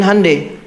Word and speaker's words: Hyundai: Makanya Jepang bikin Honda Korea bikin Handai betul Hai itu pengucapannya Hyundai tulisannya Iya Korea Jepang masuk